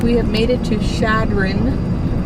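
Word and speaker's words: Chadron: It's like we have made it to Shadron. Apparently that's how you say it. Shadron. Oh, is it? Yeah. I was saying it wrong. I was saying ch.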